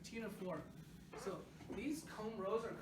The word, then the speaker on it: Ctenophora: Don't pronounce the C again, right? Ctenophora.